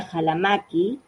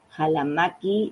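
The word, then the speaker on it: Ccalamaqui: Y ahí hay un ensayo sobre una heroína que se llama aventura Jalamaki. Jalamaki. Estoy diciendo con la fonética quichua porque se escribe con dos centuras alamaki.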